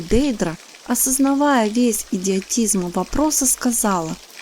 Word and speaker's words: Дейдра: едва взглянула на него дейдра её сердце подпрыгнула а затем замерло только один человек когда-либо произносил е имя так с лгм ударением на Первом слоге что ласковость она повернулась